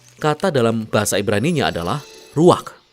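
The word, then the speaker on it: רוח: dalam bahasa ibraninya adalah ruak ruak ya benar tenggorokan kita harus benar-benar bersih di akhir pengucapan jadi apa itu Ruak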